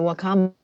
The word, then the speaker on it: wakame: Is it Wakame? Is that how you say it? Oh, yes, the Wakame.